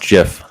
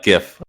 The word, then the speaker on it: GIF: my problem with uh gif when people say it i think they're saying gift like a birthday gift so i think jeff's